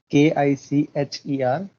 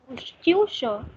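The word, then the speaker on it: Küche: Ist in Kicher. How to pronounce it? Kicher? Kyusha.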